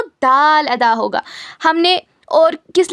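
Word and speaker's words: د: उसके बाद देखिए उसके बाद आता है दाल दाल दाल दाल।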